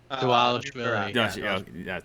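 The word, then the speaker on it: Dvalishvili: Davashvili.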